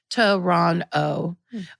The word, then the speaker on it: Toronto: Toronto, pronounced Toronto. Or in traditional Mohawk, Tkaronto.